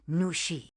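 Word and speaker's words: 女士: Your hello was perfect, but remember, the last syllable of miss has a falling tone.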